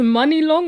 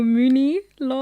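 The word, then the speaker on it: Muni Long: Is it pronounced Money Long or Mooney Long? Oh, Mooney.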